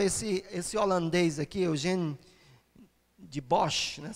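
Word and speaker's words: Dubois: esse holandeses aqui Eugênio deboche né se a pronúncia a holandesa Eugenio deboche em 1891 ele achou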